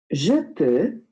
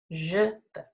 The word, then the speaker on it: je peux: Je peux. Je peux. Très bien. So, je peux means I can. Okay? And have a look at how it's spelt. You will see the X is silent.